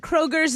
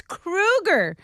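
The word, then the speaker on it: Kroeger: Okay, we have been saying Chad Kroger's name wrong. It's not like the grocery store chain. Chad Kroger says his name is pronounced like the movie killer Freddy Krueger. It's Krueger, Chad says.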